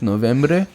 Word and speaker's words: noviembre: February, March, April, May, June, Noviembre. How do you say November in Spanish? Novembre.